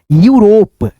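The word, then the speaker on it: Europe: जैसे ई यू आर ओ पी ई इसको पढ़ेंगे यूरोप यू रोप फिर यहां पे देखो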